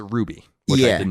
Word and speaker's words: RWBY: By the way, as far as Ruby is concerned, RWBY.